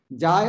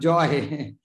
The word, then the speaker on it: jai: Jai and joy is maybe English pronounced. Joy, not a joy. Abhiman jai. Oh, haribol, haribol, abhiman jai. Not a joy. Jai, jai, gura chade. Not see abhiman joy. That joy and jai is different.